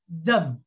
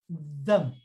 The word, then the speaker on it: them: Chúng ta phát âm từ này them, cái này phải le lưỡi ra, them.